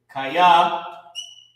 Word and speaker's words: kaya: Kaya, to add to the slang, kaya, shaquali, for. All right, and how you pronounce this word is ka, ya.